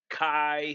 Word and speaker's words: chi: of curse of x that's a greek letter pronounced chi and then squared comes